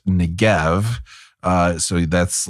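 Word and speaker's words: Negev: you um it's also more commonly spelled and pronounced ngev uh so that's like if you're looking this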